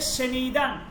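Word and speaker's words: شنیدن: দেখেন একটা এটা হচ্ছে সেনিদান সেনিদান সেনিদান মানে হচ্ছে শ্রবণ করা সেনিদান উচ্চারণটা দেখেন সে নিদান সেনিদান উচ্চারণ সে নিদান মানে শ্রবণ করা শোনা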